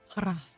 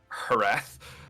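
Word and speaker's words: Hrath: His name is spelled H R A T H. Harrath. I will Harath.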